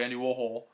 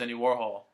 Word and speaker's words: Andy Warhol: we're going to record Andy Warhol. And Bowie was like, no, it's Andy Warhol. He was saying it wrong, and Bowie was correcting him, that he cracks up.